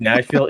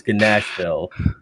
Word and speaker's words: Gnashvyll: It's also not Nashville. It's Gnashvyll, Malay. Yeah, it's spelled with a G because we're awesome And a Y.